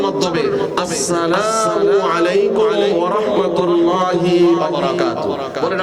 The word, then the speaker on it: আসসালামু আলাইকুম: আমাদের নুরানির বাচ্চারা দেখবেন রাস্তা দিয়ে যাওয়ার সময় পরিচিত সবাইকে কত সুন্দরভাবে সালাম দেয় সহিহ উচ্চারণের মাধ্যমে, আসসালামু আলাইকুম ওয়া রাহমাতুল্লাহি ওয়া বারাকাতুহু।